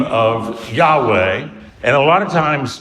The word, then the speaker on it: Yahweh: still, but we're pretty sure that the correct pronunciation is Yahweh.